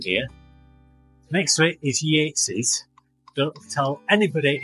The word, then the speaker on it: Yates's: Next to it is Yates's. Don't tell anybody it's Yates. Pronounced, spelt Yates, but everybody calls it Yates's.